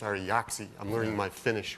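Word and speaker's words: Ari Jaaksi: Ari Jaksi joined us from, I always pronounce his name wrong, it's Ari Jaksi.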